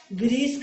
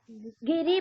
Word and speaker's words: गिरि: गिरीश का क्या होगा महेश? मैम गिरीश का मैम गिरी प्लस ईस गिरिधन ईश है, गिरिधन गिरि ईस। गिरि। मात्रा का सही उच्चारण कीजिए, गिरी नहीं बोलेंगे हम, गिरि।